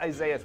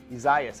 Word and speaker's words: Isaias: forgotten how he said it's not isaiah's which i have been isaias i think is what we're calling it uh tropical storm developing